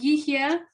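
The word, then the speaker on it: יהיה: okay, and here with yihya, so the word is two syllables. The first one, you do have that H sound, yih, yeah, okay? That H comes out. You want to sound that H, okay?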